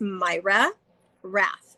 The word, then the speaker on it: Mayra Rath: it's actually under my personal name which is myra raph i don't know if you can type in or um my name is spelled m a y r a and then